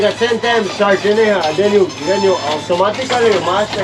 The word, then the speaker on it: Sarteneja: Sartenera. Doucement, pas vite. Sí, sartenera. Sartén, como sartén.